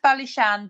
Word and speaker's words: Ballyshane: that area to go on to it it's pronounced bishan but again the for the purpose of spelling